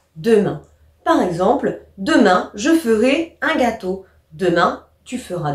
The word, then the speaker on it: je ferai: Attention, on prononce E ici. On ne dit pas je ferai, mais on dit je ferai.